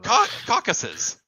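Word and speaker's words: Caucasus: pronunciation probably wasn't yeah I believe is the correct pronunciation caucuses that's where we came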